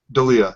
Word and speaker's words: D'Elia: D'Elia, that's it.